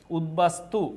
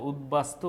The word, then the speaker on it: উদ্বাস্তু: ত টা দিলেই হবে উদ্বাস্তু উদ্বাস্তু এই যে বফলাটা দেখো উদ্বাস্তু বফলাটা মাঝখানে আছে দেখে উচ্চারণ হইছে কিন্তু বফলা যদি শুরুতে